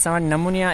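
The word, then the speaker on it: pneumonia: लिखना है sorry for that next question है निमोनिया इज a disease of हे पी जे के इनमें साइलेंट आो इनके पब पी एन ई यू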